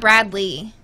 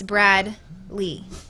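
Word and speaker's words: Brad Leigh: Not L-E-I-G-H, but pronounced Lee. It's not one word. It's not Bradley. It's Brad Lee.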